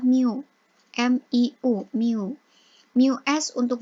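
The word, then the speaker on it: μ: yang membedakan disini itu ada nilai Mio jadi bacanya itu adalah Miu Miu Miu Miu es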